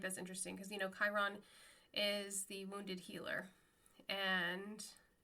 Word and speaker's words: Chiron: serious or not, but he was like, what's Chiron? Instead of Chiron. So Chiron is spelled Chiron. And my son and I were like, because my son's a big Percy Jackson fan. He's like, no, that's Chiron, Dad.